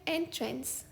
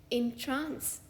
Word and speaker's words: entrance: इस शब्द का एक प्रोनाउंसिएशन है एंट्रेंस, यानी कि प्रवेश द्वार। For example, please use the side एंट्रेंस टू the building. इस शब्द का दूसरा प्रोनाउंसिएशन है इंट्रांस, यानी कि मंत्रमुग्ध करना। For example, the magician had